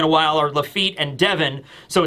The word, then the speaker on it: Devon: And it turns out he lands, coincidentally, in fact, right next to Katarina Devon, or Davon. I think it's Devon. I think it is. I've been mispronouncing that the whole time, but whatever.